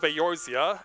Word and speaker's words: Eorzea: It's called Tales of Eorzea. Eorzea is spelled E-O-R-Z-E-A.